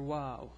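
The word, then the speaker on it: واو: this is the letter wow it's pronounced like w in English oops that's too much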